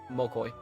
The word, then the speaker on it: Mokoi: or Mokoi. Yeah, before I learned how to properly say his name, I kept calling him Moki. Mainly because for some reason he reminds me of the Yu-Gi-Oh card Moki Moki.